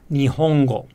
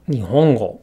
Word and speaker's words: 日本語: Again, it's not Nihongo, but Nihongo.